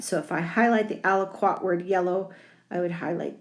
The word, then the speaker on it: aliquot: and it is spelled a l i q u o t right and that's a big one the al-aqua there we go again aliquot is the liquid inside so if i highlight the aliquot word yellow i would